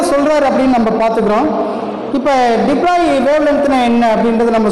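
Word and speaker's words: de Broglie: அதை எப்படி வந்து ப்ரொனவுன்ஸ் பண்ண அப்படின்னா டிப்ராய் அப்படின்றது ப்ரொனவுன்ஸ் பண்ணும். டிப்ராய் அலை நீளம், டிப்ராய் வேவ் லென்த்து, டிப்ராய் வேவ்ஸ் அப்படி தான் நம்ம படிக்கணும். டிப்ராலின்னு படிக்கக்கூடாது, அதை டிப்ராய் அப்படின்றது நம்ம படிக்கணும்.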